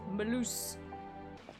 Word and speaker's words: Malus: Just think of moose and then loose. Malus.